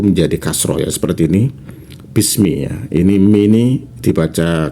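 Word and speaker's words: بسم: Tetapi menurut para ulama, karena ini sering dibaca ya, jadi alifnya ini dihapus, jadi bacanya agak lebih cepat ya, bismi ya, bukan biismi begitu.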